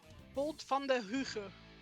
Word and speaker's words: Bolt van der Huge: Bolt van der Huge is how you would pronounce it in Dutch.